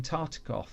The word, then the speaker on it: Tartikoff: took a meeting with Paramount Pictures chief Brandon Tartikoff, I think that's how you pronounce his name, and while Newfield was away,